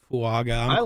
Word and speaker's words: Fuaga: I get going with fuaga fua it's fua there's a silent end in there's a hidden end how to pronounce both